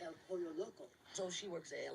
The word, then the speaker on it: El Pollo Loco: So she's working for El Lero Poco. It's El Pollo Loco.